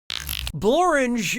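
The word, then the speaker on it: Blorenge: Blange is a real place and it really rhymes with orange.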